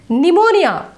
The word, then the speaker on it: pneumonia: handsome okay next s-a-l-m-n pneumonia is a lung disease p silent s c e p